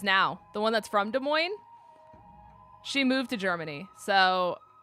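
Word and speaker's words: Des Moines: S when they say De Moine it's it's simply just not the S is silent it's not Des Moz it's De Moine I've I've never said DES mois in my life it's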